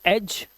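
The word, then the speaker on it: edge: तो यहां पर आप क्या करेंगे? जी से पहले आया हुआ डी है। तो आप इसे साइलेंट कर देंगे। इसे पढ़ेंगे एज।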